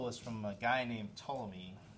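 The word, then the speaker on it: Ptolemy: Yeah, it's it starts with a PT which is always weird.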